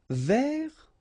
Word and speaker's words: vers: Vers, so you don't pronounce the final S, means towards or about.